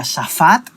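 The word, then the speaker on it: שפט: concordancia hebrea que significa o sea que se pronuncia tsafad que significa juzgar o castigar tal se puede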